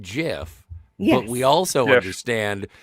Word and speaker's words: GIF: We all understand that it is pronounced GIF, not GIF.